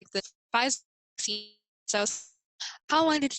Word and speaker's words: Pfizer: So, like, let's see, Pfizer, I think that's how you say it, Pfizer vaccine. Pfizer, so that's one of the first vaccines that's being tested on people.